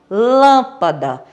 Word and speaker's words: lâmpada: Proparoxítona é quando a sílaba tônica é a antepenúltima, como a palavra lâmpada. A sílaba tônica da palavra lâmpada é lã.